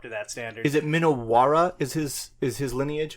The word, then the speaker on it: Minowara: Is it Minowara? Is his lineage? How Yes. do you pronounce that? Minowara.